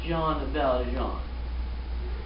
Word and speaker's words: Jean Valjean: I'm hearing now that it is pronounced Jean Valjean.